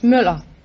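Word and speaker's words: Møller: No, it's Müller. It's what? Müller. How do you spell it? M-U-L-L-E-R. M-U-L-L-E-R. What kind of a letter is It's Ö. It's an O with a line through. Oh. It's pronounced Ö.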